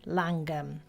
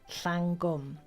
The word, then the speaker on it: Llangwm: 1880 we settled on Langham pronounced you'll notice in English rather than the full-blooded Welsh way Langham and we're pretty amazing